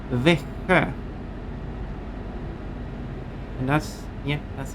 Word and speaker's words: Växjö: That place name is pronounced Växjö.